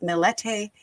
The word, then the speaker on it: Millete: and it looked like Melette which is pronounced with the T at the end.